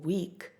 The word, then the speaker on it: week: Remember that the action comes before the Afrikaans word for week is week. It looks exactly like the English word, but we pronounce it in the Afrikaans way.